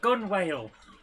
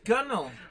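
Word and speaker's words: gunwale: going to pronounce that gunnel gunnel instead of gun whale no it's gunnel and now i'm just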